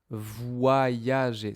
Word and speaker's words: voyager: Donc ici, j'ai les deux. J'ai w et y. voyager.